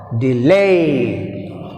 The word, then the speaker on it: delay: Delay, delay. See here, I am pronouncing delay. Lay is second syllable. D is weak prefix. That's why we have stress on second syllable.